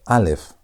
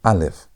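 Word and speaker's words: א: The first letter of the Hebrew alphabet is alf. Alf. And alf is not pronounced, meaning that it's silent. And there are two letters on the Hebrew alphabet that are silent, meaning they don't have sound.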